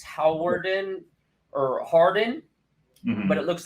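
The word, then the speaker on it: Hawarden: it's important it's it's it's different than it's pronounced it's howardin or Harden but it looks like hog Warden but so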